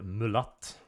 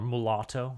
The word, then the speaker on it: mulatto: Personally, I am partial to mulat because it just sounds mean. Or mulatto is the more correct English pronunciation.